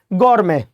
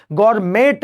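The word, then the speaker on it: gourmet: फिर next word है गौरमे जी हां so what is the mean of Gaur गौरमे means क्या होगा इसमें टी साइलेंट होगा ठीक है ध्यान रखेंगे गरमेट नहीं होता है या गौर मीट नहीं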